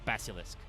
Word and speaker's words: Basilisk: They added an extra H, even though it normally is just pronounced Basilisk.